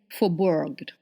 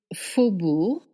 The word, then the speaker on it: Faubourg: I hear people saying Faubourg or Faubourg. Really, it is Faubourg. You don't pronounce the G at the end, and then OU makes the sound OU, and AU makes the sound O.